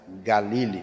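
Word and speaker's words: גליל: tá no hebraico Valley galil é o termo hebraico da Nil O Galileu seria pronúncia mais acurada galili o que tem dois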